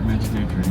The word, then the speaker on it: Mecidiyeköy: I hope you have a good laugh here when I'm trying to pronounce Mecidiyeköy for the first time. So this area is still Nişantaşı? No, this here Mecidiyeköy now.